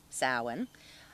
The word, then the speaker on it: Samhain: On Halloween, which is actually called, it's written like it's Sam Hain, but it's pronounced like it's Samhain.